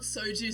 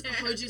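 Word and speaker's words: 호주: Oh no, it's not Soju Sarah. It's Hoju Sarah. So in Korean, Hoju means Australia.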